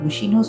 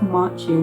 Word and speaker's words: Macchio: and obviously it's got Ralph, how do you pronounce his second name? Is it Machi or Machi, or no, Machino's a flipping brand. Ralph Machino, no, Ralph Macchio, whatever his second name is.